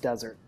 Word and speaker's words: Dessert: great question yeah it's it's spelled dessert but pronounced desert desert but whatever yeah